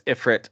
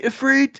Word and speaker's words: Ifrit: have to be, and I used to always pronounce it as Ifrit until I heard Clive say, "To me, Ifrit," and I was like, "Yeah, Ifrit sounds much cooler."